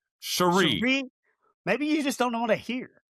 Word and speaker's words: Cherie: Pronounce her name correctly, please. Cherie. Cherie Devaux. It's not cherries. It's not cherry Coke here.